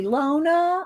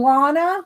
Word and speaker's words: Lana: uh let's see Lona I mean Lana sorry you had your name spelled like my mom I should know it's it's uh Lana like Donna um let's see hi